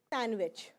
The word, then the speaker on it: sandwich: a sleep mode so we are going to pronounce sandwich sandwich sandwich third day of the